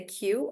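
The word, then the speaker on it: queue: wait am I yeah look at the number of vs in there guys there are so many vs but the word is actually pronounced if you remove everything the word is actually pronounced just like this so it's monosyllabic and you just say q and one syllable yeah then Ani has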